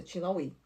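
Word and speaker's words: LaHaye: Como é que se pronuncia o nome dele? Tin tin lai. É isso, é lai.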